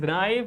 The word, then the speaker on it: knife: But here K is silent because K comes just before N and K is silent when it comes just before and this is the rule. So, this is knife and K is silent there.